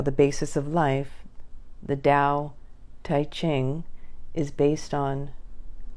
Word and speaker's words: Dao: that which Lao Zoo called the Dao pronounced Dao d-o-w literally translated this means